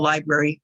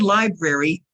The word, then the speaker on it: library: I think the Sunnyvale Library may be closer to me when are they open now the word library is pronounced you pronounce the first R you will hear many